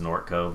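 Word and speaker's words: Gnorc Cove: Well, it's actually just Nork Cove. The G is silent, but oh well.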